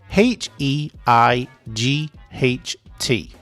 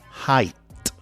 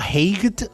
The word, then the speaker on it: height: h e i g h t height Okay, remember you need to pronounce the t. Okay, height. And it's not heigh-ed.